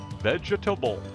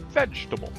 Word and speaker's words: vegetable: should have four syllables vegetable but a native English speaker will only use three syllables vegetable forget the second e we won't even bother to pronounce that treat it like a